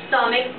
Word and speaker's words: stomach: stomach an exception because when we pronounce stomach the ch sounds like a k which is a consonant